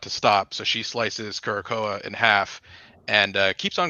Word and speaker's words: Curacoa: How did you pronounce it, David? Curacoa? Well, it's Curacao or Curacao.